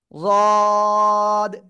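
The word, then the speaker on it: ض: এই জায়গা তাই না জিহ্বার গোড়া ডান পাশ বা বাম পাশ উপরে মাড়ির দাঁতের গোড়ার সাথে লাগাবেন সেটা বাম পাশ ডান পাশ যেকোনো পাশ হতে পারে লাগিয়ে আপনার মোটা আওয়াজে আপনার কি করতে হবে তিন আলিফ টেনে উচ্চারণ করতে হবে এই যে জিহ্বার আগা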